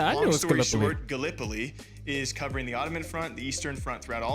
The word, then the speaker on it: Gallipoli: right because being from Iowa, I said uh Galipoli and it's it is pronounced Gallipoli. Long story short, Gallipoli is covering the Ottoman front, the Eastern front throughout all of this.